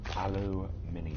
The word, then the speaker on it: Aluminium: Aluminium. Spelled aluminum, but we pronounce it aluminium. Wouldn't sound right if we didn't say it aluminium.